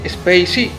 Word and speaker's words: Spay-C: Lo cual es un triple juego de palabras, ya que Spacey se escribe Space guión la letra C, lo cual suena muy parecido a Spacey como algo espacial y también suena parecido a Spicy, picante.